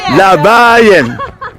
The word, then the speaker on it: Labayan: Second to the last. Amazing. Labayan.